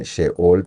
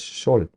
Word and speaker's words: Sheol: Algunas traducciones se escriben Sheol, pero la palabra correcta es Sheol.